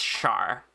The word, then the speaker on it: Char: Artemis, it's actually pronounced like neither. It's Char. As if it were spelled with an SH. Maybe even just a single one, yeah.